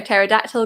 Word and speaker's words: pterodactyl: Number 2, why can't you hear a pterodactyl go to the bathroom? Because the P is silent.